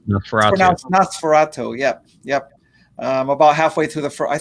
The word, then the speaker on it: NOS4A2: license plate NOS4A2, but it's pronounced Nosferatu.